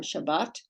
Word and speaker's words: Shabbat: or Beth Israel but today it would be pronounced Sabbat or Shabbat or bit Israel and then if you have